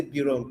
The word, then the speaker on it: Berom: If they want to write chair, or even the word Berom itself, some people say Birom, but it is BE. So some pronounce it BI, some pronounce it BE.